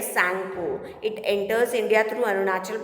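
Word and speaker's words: Tsangpo: T is silent here, Sangpo.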